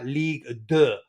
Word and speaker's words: Ligue 2: and we talked about Ligue 2, it sounded weird when you've got Ligue 1. So I'm correcting my wrongs from previous and saying Ligue 2.